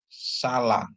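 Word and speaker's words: סָלַח: selatan Israel terus ada samek dikasih dengan kamat dia bacanya sa lamet dikasih dengan Pata bacanya la tambah he ya jadi salah ya bacanya jadi salah salah ya salah itu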